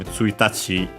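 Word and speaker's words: ついたち: Tsuitachi is accent on the last mora, but yeah, it's completely different.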